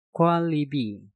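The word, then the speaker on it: 관리비: Contoh selanjutnya, Kwalibi. Kwon diakhiri dengan nien, setelah itu diikuti kata libi yang diawali dengan real. Maka nien yang ada di kata kwon kita rubah menjadi real. Dan cara pengucapannya menjadi kwalibi.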